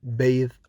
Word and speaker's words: bathe: in oath and the which is voiced like in clothes you must notice that in clothes it is a verb when you have the word as a noun it is pronounced as cloth with not the the same for bath and bathe bath as a noun bathed as a verb alveolar sounds are made